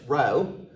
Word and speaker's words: rho: correlation coefficient denoted by the Greek letter rho and pronounce rho is the parameter that